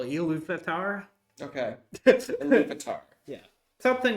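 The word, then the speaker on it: Ilúvatar: hard to say uh it's i l vatar so elu vatar okay vatar yeah something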